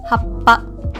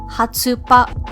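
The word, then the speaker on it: はっぱ: Oh, by the way, when pronouncing words with the small tsu or the double consonants, you must pause where the small tsu is located. Most importantly, you do not ever pronounce it as a tsu. For example, for the word happa, when you use a small tsu in the middle, it will never be pronounced hatsupa.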